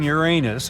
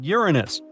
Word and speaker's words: Uranus: well we've been miscalling Uranus all this time actually astronomers say we should be pronouncing it like Uranus not Uranus I can't say a different stress changes much though however things could have